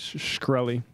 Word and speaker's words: Shkreli: I think it's Shkreli.